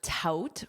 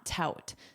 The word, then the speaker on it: tout: Coming back to our verb tout, remember that vowel? Well, you see it right here. It contains the word out. Out. And that's exactly the pronunciation you want. Tout.